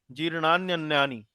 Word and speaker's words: जीर्णान्यन्यानि: तो यहाँ जीर्णानि और अन्यानि का जब संधि हो जाता है तो जीर्णान्य करके उसको जीर्णान्यन्यानि इस तरह से उसका उच्चारण किया जाता है।